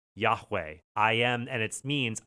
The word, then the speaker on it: Yahweh: It was Eye Ashreye, which is the tetragrammaton YHWH, Yah, which is we pronounce, we believe, Yahweh.